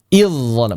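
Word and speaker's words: إذ ظلموا: Contoh, id bertemu dolamu, maka di sini aslinya sukun. Idz kalau waqaf. Tapi ketika wasal maka dia dnya tidak dibaca langsung masuk ke d makanya diberi tanda tasydid. Idzalamu. Sama di sini. Jangan dibaca idya jangan e ya. gara-gara mau masuk ke d inya dibaca idzalamu. Jangan idzalamu. Idzalamu. Idolam bukan idzalamu.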